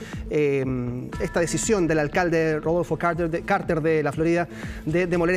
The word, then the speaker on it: Carter: ¿Cómo se pronuncia su nombre? En Chile se dice Carter ya.